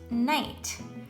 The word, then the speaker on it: knight: we're going to have a word that begins with kn and it is spelled k-n-i-g-h and it's pronounced night and a knight was